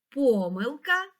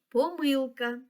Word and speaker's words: помилка: наголос у цих словах Отже слово помилка можна наголошувати так помилка і помилка а слово помилки має